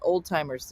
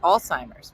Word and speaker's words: Alzheimer's: before you realized that it wasn't called old timers disease, like my grandmom said? She got the old timers. You're like, that's not. I don't think that's not at all how it's spelled. No, it is. It's the old timers. No, it's not. It's Alzheimer's.